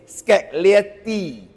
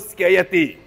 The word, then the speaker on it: Scaglietti: say this word is scality wrong say too fast become spaghetti round this car name is the g is silent Yeti is yeti okay